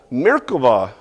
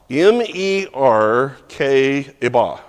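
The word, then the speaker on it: merkavah: Mer k iba. Okay. Um it's it's tends it's M E R K I and it could be B or V because of the way people pronounce the the bet um ah in English.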